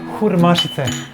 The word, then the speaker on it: hurmašice: Hurmašice. Hurmašice. Hurmašice. Wait, napiši. By syllable. By hur. Kur. Hur mašice. Yeah.